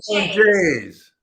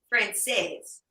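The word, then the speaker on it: Française: No, my kids make fun of me the way I say it because sometimes I say chicken franchise. Chicken franchise. Yeah, they say it wrong. And then why are they making fun of you? They always make fun of me. It's what they do. What do they say? Frances? Francaise. Chicken francaise.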